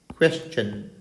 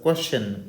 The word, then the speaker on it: question: One is suggestion and second one is question. Dear students, STION. STION. Here, don't pronounce these words as suggestion. Now, suggestion. And never pronounce this word as question.